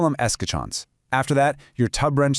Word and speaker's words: escutcheon: It's pronounced escutcheon. Yeah, escutcheon.